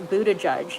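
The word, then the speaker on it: Buttigieg: Harris's campaign delvis a vacations his name is pronounced a Buddha judge no blue yes you're correct Lee Ron Underwood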